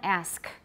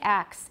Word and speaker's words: ask: you want emotion stirring everyone ask don't say acts it's a feature of not standard english in america and also elsewhere i